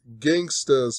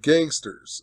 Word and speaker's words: Gangsta's: So, this guy, Nick, on Jeopardy, lost $3,200, and it brought him down to $8,800 because he incorrectly pronounced Gangsta's Paradise and said gangsters.